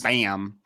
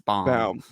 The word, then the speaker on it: Linderbaum: you're good you're good it's not it's not bam it's bomb bomb bomb they managed to also